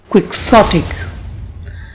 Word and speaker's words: quixotic: Quixotic. Let's learn how to pronounce this word. This word has 3 syllables, quick, sot, and ick, and the stress is on the second syllable, quixotic.